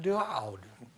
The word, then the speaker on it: Daoud: With me now in kitchen studio is George Daoud.